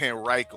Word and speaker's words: Henrico: That's how you say it, Henrico. I keep on saying Henrico. That's what a lot of people say, and that's how like people here, we know those people are not from here, because when we